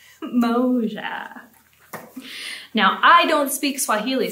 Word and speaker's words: moja: And in Swahili, one is pronounced Moja, Moja.